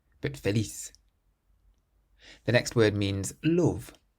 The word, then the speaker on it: feliz: The first word means happy, and it ends in a Z, so we stress the last syllable. Feliz. Feliz. So it's not feliz, but feliz.